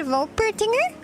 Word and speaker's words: Wolpertinger: wait, no, it would be pronounced with a V, right? Wolpertinger?